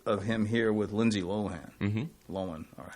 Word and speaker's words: Lohan: him here with Lindsay Lohan loan or how you say Lohan Lohan Lan how did you say Lohan okay like low man on Deck you know